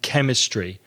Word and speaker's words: chemist: a sound chemist and chemistry so we go to the chemist to buy medicine yes indeed Craig C edge is a tricky couple of letters to pronounce an English chemist is cut but then other words